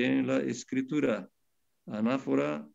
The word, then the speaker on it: anáfora: La palabra anáfora y la palabra catáfora. A-N-A-F-O-R-A, con acento en la segunda A.